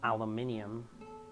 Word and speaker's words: aluminium: So, since this aluminum, or aluminium, if you pronounce it correctly, is softer than the steel, or I guess whatever metal this is, presumably some kind of steel.